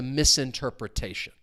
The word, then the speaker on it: misinterpretation: something is open to misinterpretation as I said before if a word ends with that ti n the stress is going to come on the syllable before so misinterpretation misinterpret retation.